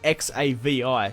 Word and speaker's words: Xavi: He's spelt with an X-A-V-I, so it's Xavi.